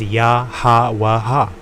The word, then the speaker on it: Yahawah: However, through the meaning and through the language, we determine how to pronounce it. So it's Yah and Hawa, meaning he exists.